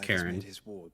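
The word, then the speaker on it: Charon: I would have you no her name is pronounced Karen it's even though it's c-h-a-r-o-n um well concealed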